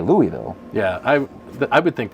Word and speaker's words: Louisville: what you did Baker bricks at least you pronounced Louisville correctly well thank you Louisville Louisville most people not from Louisville that I've met